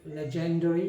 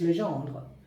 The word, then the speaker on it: Legendre: French as well Le I hear the some people from India even the English people they say legendary but not legendary it's Legend all right take care